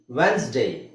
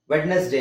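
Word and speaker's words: Wednesday: ಅವಾಗ ಏನಾಗುತ್ತೆ ವೆನ್ಸ್ ವೆನ್ಸ್ಡೇ ವೆಡ್ನೆಸ್ ಡೇ ಅಲ್ಲ ಕಾಮನ್ ಆಗಿ ಎಲ್ಲರೂ ಮಿಸ್ ಪ್ರೊನೌನ್ಸ್ ಮಾಡ್ತಾರೆ ವೆಡ್ನೆಸ್ ಡೇ ಅಂತ ವೆಡ್ನೆಸ್ ಡೇ ಅದಇರೋದು ಹಾಗೆ ಬಟ್ ಹೆಂಗಿದೆ ಹಂಗೆ ಓದಬಾರದು ಅದನ್ನ ನಾವು ವೆನ್ಸ್ಡೇ ವೆನ್ಸ್ ಡೇ ವೆನ್ಸ್ ಎಸ್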